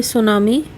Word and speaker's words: सुनामी: है effects of सुनामी यहां पर सुनामी प्रोनाउंस करते वक्त टीजर की आवाज नहीं आती साइलेंट होता है इसलिए हम इसे सुनामी पढेंगे द वे भ्रष्ट एवरीथिंग